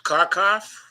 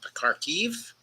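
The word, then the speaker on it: Kharkiv: blow with respect to karkov or using the Ukrainian pronunciation Cardiff with respect to the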